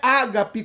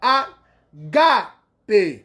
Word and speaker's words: agape: Não é ágape como a gente vê na transliteração, porque o agudo no grego está no alfa, né, na segunda sílaba, agape, ok?